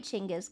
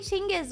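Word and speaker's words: Chinggis: Why do I say Ching is weird? because um I watched this show called Marco Polo and I think in actual Mongolian it's pronounced Chingis, not Genghis.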